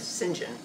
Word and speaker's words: St John: pal around but anyhow his name is Sinjin St John really yeah the way the way the Brits say it didn't you I like